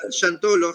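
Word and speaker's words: Xantolo: m al final y ahora chantolo que se escribe con x al principio x a n t o l o y se pronuncia con sh al principio chantol la diferencia del chantolo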